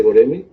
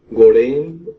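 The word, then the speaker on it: Göreme: Tiene unos, o sea, su pronunciación como es turco, Sí. de repente varía mucho, y bueno, tiene varias pronunciaciones ahí. Depende también de las, ahora sí, del país que lo visite, ¿no? O que lo pronuncie.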